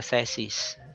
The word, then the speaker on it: thesis: syllable which is wrong another mispronounced word is we often say the uh thesis no it's wrong it's the it's a hard e sound so it's the theis